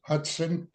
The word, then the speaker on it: Hutson: James Hudson. Is that the right way to pronounce it with the T? That is correct. I get Hudson a lot for the Hudson River, but that's right. It's a T.